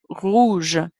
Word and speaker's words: rouge: Up from there, we have rouge, O-U, ou, rouge.